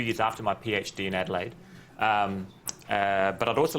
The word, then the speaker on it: Adelaide: To give you a bit of a background as to where I'm from, this is Adelaide, or Adelaide in Greek or German pronunciation, as I just found out.